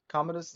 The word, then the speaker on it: Commodus: you had gotten my next one is Commodus Commodus is how you say it waim Phoenix on